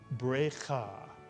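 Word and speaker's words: ברכה: So the first syllable is berei, mitsuyan. And the second syllable, cha. Put the word together and you get brecha, brecha.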